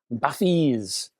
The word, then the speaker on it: Bathys: Oh, and it's pronounced Bathys, the Focal Bathys.